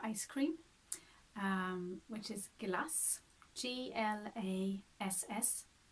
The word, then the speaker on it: glass: cream which is glass GL a SS glass glass ah la glass this is the same short short a there so we have it